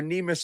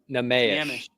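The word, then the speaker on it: Neemias: based on what we're seeing right now are Neimus and Cornet, which is crazy, right?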